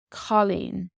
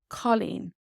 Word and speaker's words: cailín: And then in girl, it has a similar O sound, this AW sound. Colleen. Colleen.